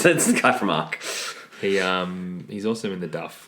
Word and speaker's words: ARQ: Arc. Arc. Okay, good. It's spelled ARQ, just in case you wanted to know.